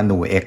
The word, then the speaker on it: NUX: นี้ แหละ ครับ ว่า จริง ๆ แล้ว ก็ อ่าน ว่า newegg นะ ครับ ผม รุ่น mg30